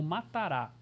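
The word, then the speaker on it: מטרה: Eu estava em casa pesquisando e encontrei uma palavra hebraica que na transliteração a gente pronunciaria ela em português como matará, né?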